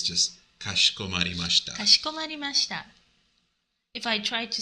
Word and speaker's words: かしこまりました: In the E sound here, you don't really heavily pronounce it. It's just kashikomarimashita.